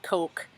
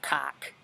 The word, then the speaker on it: Koch: Like, I'm talking about the bottom, not like the freaking, you know, David Cox died 79 Coke. I think it's Cock, Koch, but I guess it's pronounced Coke, but Cock.